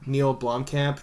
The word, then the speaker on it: Neil Blomkamp: I just bought like a Neil Blomkamp. Did I pronounce that correct?